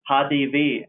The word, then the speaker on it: HDW: hdw or let's say hadi v as it's uh pronounced in german and there you can